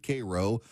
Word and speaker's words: Cairo: It's spelled Cairo, but they pronounce it Cro.